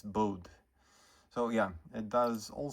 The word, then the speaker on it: Bode: If I recall correctly, the guy Bodie uh preferred to say it's to uh pronounce his name BOD, but it's actually sort of a I think a Dutch name. So, it's Bode.